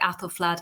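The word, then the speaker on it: Æthelflæd: the the ae which was known as the the ash sound and you find that in names like apple flood and in fact alfred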